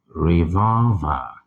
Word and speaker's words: revolver: of um revolver revolver reol with the stress on the second syllable so reol not